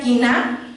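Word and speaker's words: קנאה: celus, que significa ardor, y en hebreo se pronuncia kiná, que significa ardor, fervor y pasión.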